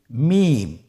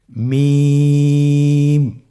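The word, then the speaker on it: ميم: মিম। মিম হরফটি উচ্চারণের ক্ষেত্রে অবশ্যই বারিক হবে, পাতলা হবে এবং তিন আলিফ টেনে উচ্চারণ করতে হবে। আমার সাথে আরেকবার চেষ্টা করুন। মিম।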